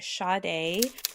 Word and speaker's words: Sade: So my case file is Sade.